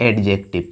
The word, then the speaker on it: adjective: तो आते हैं हम लोग एडजेक्टिव पर, एडजेक्टिव ना कि एडजेक्टिव। क्या बोलेंगे भाई, ये डी को साइलेंट रखेंगे तो एडजेक्टिव।